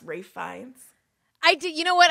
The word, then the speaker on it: Ralph Fiennes: you ready for this question about how to pronounce ray Fiennes I did you know what I did know